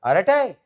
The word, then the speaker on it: Arattai: No, not earth-shattering, but at least pronunciation was a bit easier. Aratai.